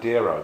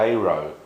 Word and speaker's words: Dero: pronounced I mean most people now seem to pronounce Deo as dero but he actually pronounced d dero um which is kind of so pres he